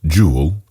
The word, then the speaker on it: joule: meter and this is named the jewel pronounced jewel after an english physicist